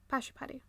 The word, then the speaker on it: Pashupati: Pashupati. Yeah. That's easier. Why is it easier to pronounce the Hindu names?